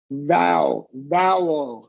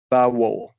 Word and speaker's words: vowel: It's the same ow diphthong as you used in sound.